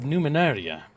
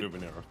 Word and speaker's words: Numenera: from funding Tides of Numenaria. I hope I pronounced that right. No, you didn't. I was about to say Numenera.